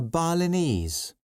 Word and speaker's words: Balinese: this dress go and which syllable all the words have the stress on ease Chinese Balinese okay now